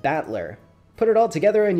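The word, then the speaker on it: 戦人: the characters for fight and person and it's pronounced batler put it all together and you've got usid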